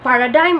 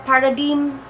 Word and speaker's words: paradigm: Both are accepted. Katulad din ng missile at missile, pwede rin siyang bigkasing paradigm at paradigm. So, paradigm o paradigm, it's fine. So, when you say either and either, neither and neither, both pronunciations are accepted. So, paradigm o paradigm, correct.